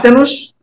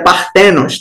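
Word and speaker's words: παρθένος: Deus entre nós então essa palavra penos nós temos aqui na verdade é partenos tá a pronúncia tô pronunciando errado eu acabei de ver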